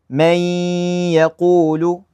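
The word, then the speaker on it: مَن يَقُول: We just merge it. We basically kind of just forget about the noon. May yaqul.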